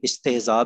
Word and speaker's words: استہزاء: استہزاء، استہزاء، استہزاء نہیں کہنا، استہزاء، ہاں کے اوپر سکون.